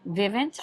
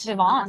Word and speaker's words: Vivant: So it starts off with, there's this magazine, Vivint or something like that? Yes, Vivant. Vivant. Okay, I love that. Most sophisticated pronunciation.